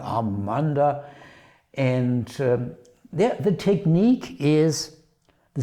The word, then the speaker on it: Amanda: And by the way, it shows his lovely wife, Amanda, pronounced in German, Amanda.